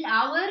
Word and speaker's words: hour: மணியை இங்கிலீஷில் அவர் என்று சொல்கிறார்கள். அந்த பதத்தில் அமைந்துள்ள எழுத்துக்களின் உச்சரிப்பை அனுசரித்து பார்த்தால் ஹவுர் அல்லது ஹோர் என்றே சொல்ல வேண்டும்.